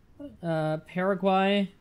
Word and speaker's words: Paraguay: would be the ultimate America I don't know Paraguay is how you pronounce it really okay I will I will